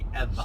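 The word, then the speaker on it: Ewa: direction behind us is ever and it's spelled II WA but it's it sounds like EV ever like that yeah it's good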